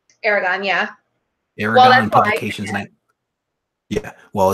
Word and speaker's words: Aragon: Is that the correct pronunciation? Aragon, yeah.